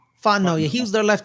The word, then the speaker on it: Fontenot: Fontenot. Fontenot.